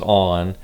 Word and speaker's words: On: I've heard it pronounced a million different ways, and no matter what the logo looks like to you, it is pronounced On.